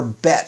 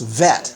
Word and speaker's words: bet: the case of the letter bet for example with a dee it's bet without one it's vet that's an easy one